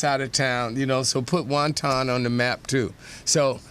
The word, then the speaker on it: Wantagh: You say Wonton, New York? Yeah, that's I looked it up on Wikipedia, and that was the pronunciation that they gave was Wantagh.